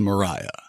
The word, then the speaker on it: Maria: the conquered fight Lydia Mariah Francis always hated the name Lydia so she went by her middle name which was spelled Maria but she pronounced it as Mariah she was the youngest